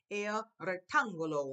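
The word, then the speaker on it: rectángulo: So we pronounce, I say, el rectangulo. Whenever I see that accent right there, I know to go a rectangulo. El rectangulo. Now, after I've done that one, here's one here.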